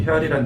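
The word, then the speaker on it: real: 헤알은 그런데 우리가 쉽게 하면 레알 마들이 할 때 레알과 동일한 단어입니다. 발음만 다른 겁니다. 생각해 보면 우리나라 원화스죠. 원 중국은 위엔화스고요. 일본은 앤화스죠. 다 원입니다. 같은 단어입니다. 각 나라 말에 따라서 발음만 조금 다른 겁니다. 레알 마드리의 레알이나 어 헤알의 해알이나 같은 단어입니다. H자를 무궁으로 쓸 것이냐 발음을 할 것이냐이 차이일 뿐입니다.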